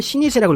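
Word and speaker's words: 老舗: 전병이라고 있는데 일본에서는 노포를 시니세라고 읽고요.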